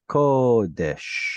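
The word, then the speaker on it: קֹדֶשׁ: There's an O vowel up on top here, so it's kodesh.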